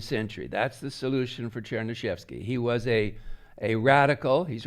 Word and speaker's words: Chernyshevsky: Then the next book, next year, Chernyshevsky. I know it looks like unpronounceable, but if you just say it out loud to each other, it's easy. Chernyshevsky, that's all, Chernyshevsky.